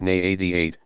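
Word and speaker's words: NII-88: the main Research Institute the ni 88 pronounced n88 near Moscow in 1956 Coral's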